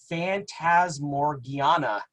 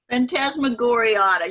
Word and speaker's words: Phantasmagoriana: We also have The Mummy by Jane Webb, and Phantasmorgiana. If I pronounce that right, I may not. Lisa may be able to correct me on my pronunciation. Phantasmagoriana. You were very close.